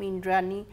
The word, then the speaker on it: Indrani: But as people started wondering who Trinayani was, and there were many people who guessed, because my name Indrani rhymes with Trinayani.